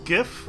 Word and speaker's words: GIF: Are you guys GIF or are you guys JIF? I'm curious about that, because JIF is the proper way to pronounce it.